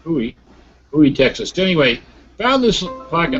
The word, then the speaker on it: Bowie: No, Bowie. Yes, I get criticized by those Texans if I don't pronounce it right. Bowie, Texas.